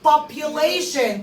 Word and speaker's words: population: واتفقنا ان TION في اخر الكلمة يعني شن. population تعداد السكان.